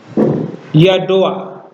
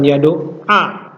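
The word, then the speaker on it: ידוע: maka disebut patah vurtif tetapi cara mengucapkannya ya diucapkan terlebih dahulu ya yadoa bukan y do a y Doa yadati apa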